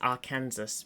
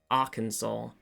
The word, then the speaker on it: Arkansas: I was like, I always read it as Arkansas because I forget that it is, in fact, for some reason pronounced Arkansas.